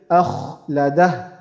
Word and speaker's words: أخلده: We have to make sure this kha we're pronouncing is clear and heavy. Akh, not not light, but heavy. Akhladah.